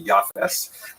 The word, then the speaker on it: Japheth: He has a son named Japheth. In the Ashkenazi pronunciation, that would be Yafes.